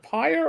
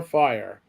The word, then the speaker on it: Pyre: I'm assuming it's pronounced is it PYRE or fire? Pyre. PYRE. Okay. He's a squat, power armored amphibian.